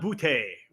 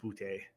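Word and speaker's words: Boutte: been looking is kishan boote out of LSU like I think it's actually pronounced boot but I just call them booty it's like Joe John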